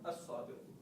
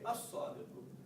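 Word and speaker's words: الصادق: And the other rule that we studied was that sometimes we put emphasis on the first letter after lam, and sometimes we don't. For example, here, we say al-muslimu, but here we say as-sadiqu.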